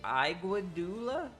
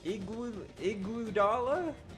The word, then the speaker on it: Iguodala: How do you say, is it Iguodula? There's no way. There's no way it's not Iguodala.